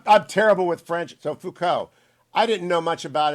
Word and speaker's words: Foucault: a million times how do you say it foucault you said it right okay i i'm terrible with french so foucault i didn't know much about him except his